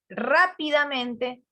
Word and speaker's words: rápidamente: O sea, entre, por ejemplo, rápidamente, tiene un acento en la primera, digamos por decir así, en la primera palabra de la estructura, Sílaba. y después ¿dónde tiene? Rápidamente. En la penúltima sílaba, profe.